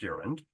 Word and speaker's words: gerund: Okay, so a gerund, pronounced gerund, is the verb of, or the acting as a noun.